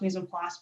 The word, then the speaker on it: mise en place: In my case, I did a play on that word, partly because I learned how to pronounce mise en place by saying peas en masse.